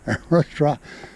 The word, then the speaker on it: arrastra: It's a Spanish word pronounced like, I don't know, arrastra? No, that's an actor. Arrastra.